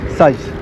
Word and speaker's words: Saïs: Alors on peut le prononcer sexe, mais comme il y a un i tréma, on dit ici Saïs.